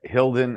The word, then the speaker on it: Hylden: Finding faith in the field H uh hilden how do I how do I pronounce it properly this is the book itself